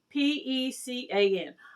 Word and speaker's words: pecan: pronounce the spelling of p-e-c-a-n i pronounce it pecan like when you make a pecan pie other people pronounce it pecan so that may be a southern way pecan the last piece